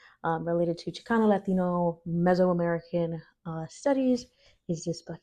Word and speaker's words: Mesoamerica: the great civilizations of Mexico America Mexico America meso America I know it was pronouncing that incorrectly meso America pre colonialism um and